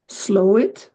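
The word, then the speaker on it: Slaithwaite: slate weight and uh someone told me that you pronounce it as slow it or something yeah leave it up to the British to come up with a very creative pronunciation okay that's off topic it's slow it slow it okay um yes so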